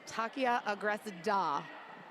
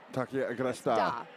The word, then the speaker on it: Takia Agresda: So just clarification, I did get an update on pronunciation. It's Takia Agresda. Takia Agresda.